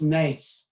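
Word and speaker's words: נס: in ancient Hebrew, the word for miracle is pronounced nes, but that word also means test and challenge, so that there is no miracle without a challenge that is presented to you.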